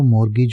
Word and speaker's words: mortgage: में सीख लेते हैं इसमें टी जो है साइलेंट होता है इसको मॉर्गेज बोला जाता है और मॉर्गेज का